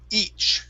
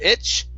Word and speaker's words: each: nice next up is each okay give me a good long e sound instead of itch okay good good and